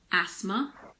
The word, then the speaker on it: asthma: common ones are asthma there's a silent h in there as well it's asthma Christmas mortgage and soften